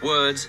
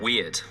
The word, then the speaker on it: Wyrd: It's Web of Wyrd, not Web of Weird.